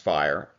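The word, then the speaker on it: FHIR: Fire stands for the fast health care interoperability resources and it's pronounced fire and it's the modern API based standard that's rapidly becoming dominant.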